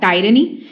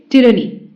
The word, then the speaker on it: tyranny: tyranny tyranny tyranny okay it's not tyranny it's tyranny okay its meaning is unfair